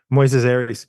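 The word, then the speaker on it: Moisés Arias: the the actor who plays Lucy's brother uh Moes Aries is that how you pronounce it yeah Moises Aries he um he has been around forever he's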